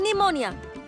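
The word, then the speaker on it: pneumonia: अंग्रेजी में एक बीमारी का नाम मैं जानती हूँ, निमोनिया। शुरू होता है पी से। पता नहीं कैसी अगड़म बगड़म भाषा है ये।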